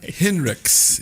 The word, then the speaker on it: Henricks: Henricks Yes. is the right way to say it.